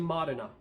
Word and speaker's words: Modena: I've heard it pronounced Modena and Modena in all different ways, but I'm going to stay with Modena because I believe that's the proper pronunciation of that word.